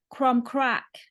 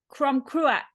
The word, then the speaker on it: Crom Cruach: So it can also be seen as meaning fertility, as in Crom, excuse my pronunciation, Crom Crack. Cruach. Crom Cruach, the fertility god.